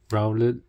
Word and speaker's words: Rowlet: Rowlet, let rhyme with now.